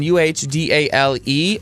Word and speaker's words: Adele: She said you can say it Adele as in Uhdale or Adele. Huhdale. Adele? Adele. There's no H in it.